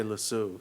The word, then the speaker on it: lasso: can't say this word how do you say this word in America really it's it's hard for me to say because then it sounds to me like a mispronunciation of the Tibetan word La Soul so I can't and I never learned to say lasso in Canada we say lasu so anyway all right